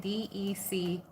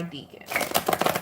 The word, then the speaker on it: decan: I encourage you, you spell decan when you want to go Google it, D-E-C-A-N, decan, Gemini decan, all right, or decan. It all depends on your accent, your pronunciation.